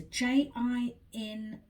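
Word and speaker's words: Jintai: going to pronounce it i think it's gin thai they call it that's the make um it was a j-i-n-t-a-i jin-tai that's how i would pronounce it now the dentist use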